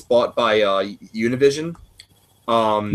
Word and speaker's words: Univision: And the fact that it's it's it's uh it's bought by uh Univision um Univision. Say it right. It's Univision.